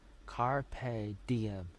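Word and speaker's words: carpe diem: pronounce uh carp. Carp carp. Carpedium.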